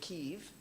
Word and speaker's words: Kiev: the big city of Kiev. My grandmother always pronounced it Kiev, and I always thought she was wrong, but then you find out that's the Ukrainian pronunciation.